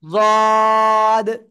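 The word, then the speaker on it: ض: জদ। এভাবে উচ্চারণ করবেন সবাই, ঠিক আছে?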